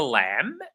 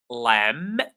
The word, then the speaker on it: lamb: The lamb the B is silent.